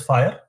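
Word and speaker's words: FHIR: fast Healthcare interoperabilities resources it is pronounced as fire it is a standard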